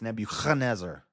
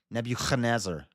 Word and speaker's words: Nebuchadnezzar: Definitely not to be pronounced like the C in church. So it's not Nebuchadnezzar and it's not Nebuchadnezzar, it's Nebuchadnezzar. Nebuchadnezzar, but it's often translated as ch in traditional systems of romanization.